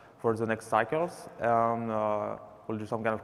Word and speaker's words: Aodh: before, like the Scalability API, are now deprecated. There's a lot of things that have been split into the two other projects here, AODH, which is pronounced A, like the letter A.